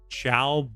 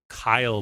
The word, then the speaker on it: Caio: So I've been pronouncing it Chow, but it sounds like you pronounce it Kyle.